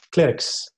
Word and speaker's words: Klerkx: Clerks. Clerc. La X se pronuncia como S.